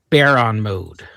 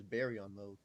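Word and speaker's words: Baryon Mode: Uh the big one perhaps besides KCM is of course Baron mode. I thought it was Barryon mode.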